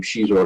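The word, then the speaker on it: Xizor: Now, Lucy Wilson came up with the name Shizor because it's sort of loosely based on, I guess she had a boyfriend at one point who was Portuguese. And so the pronunciation of that XI is SH.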